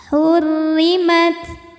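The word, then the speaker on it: حُرِّمَتْ: menit ke yaitanirjim Bismillahirrahmanirrahim hurrimat hurri rnya ini dihukumi dengan ro yang dibaca secara tarqik sebab r-nya berbaris di bawah yaitu baris kasrah maka cara bacanya tipis pangkal Lidah Tidak perlu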